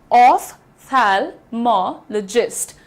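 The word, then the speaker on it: ophthalmologist: The pronunciation is ऑफ थैलमोलॉजिस्ट।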